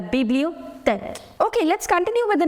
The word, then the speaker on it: bibliothèque: The letter H is silent. La bibliothèque. It's not tech. No, la bibliothèque.